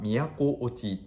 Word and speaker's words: 38507: なっておりませ読み方は京都をちーというアイテムに